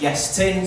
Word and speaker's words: Iestyn: It's pronounced Iestyn, so, you know, join your beans in a receptacle, Iestyn.